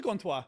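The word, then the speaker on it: Gantois: How do you spell it in French? Is it G-E-N-T? Gontois. It is Gontois.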